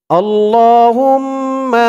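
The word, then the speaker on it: اللهم: করি আউজুবিল্লাহি মিনাশ শাইতানির রাজিম বিসমিল্লাহির রাহমানির রাহিম আল্লাহুম্মা মালিকাল মুলকি আল্লাহুম্মা আমি আপনাদেরকে অক্ষরে অক্ষরে শব্দে শব্দে ভেঙে ভেঙে সঠিক উচ্চারণ করে বলে দিব আপনারাও আমার সাথে সাথে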